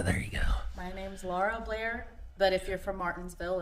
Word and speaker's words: Lara Blair: Pronounce your name for everybody. It's Lara Blair.